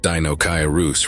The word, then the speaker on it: Deinocheirus: dooc Caris pronounced Dino karus from Greek meaning terrible hand is a genus